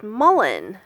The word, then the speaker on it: mullein: day and so I've discovered that it it's mullen pronounced pronounced spelled mu l le i n the